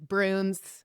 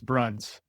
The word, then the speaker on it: Bruns: It's Bruns. B runs. And you know what? I just realized that it's runs.